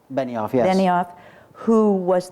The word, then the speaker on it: Benioff: about how you worked with David is it pronounced Benioff Benioff yes any off who was the screenwriter of